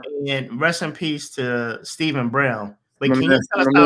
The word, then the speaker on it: Stephen: And rest in peace to Stephen Brown. But can you tell us how Stephen? My man, yeah. Steph. Because I know it's spelled Stephen, but we're going to use it pronounced Steph.